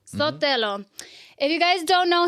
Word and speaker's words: Sotelo: Sotelo? Sotelo. Sotelo.